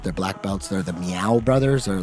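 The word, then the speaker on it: Miyao: Like Meow, like a kitty cat meow? But it's like Sao Paulo Meow. But it's not really like meow meow cat. It could be, but it's spelled, I think, Miyaao.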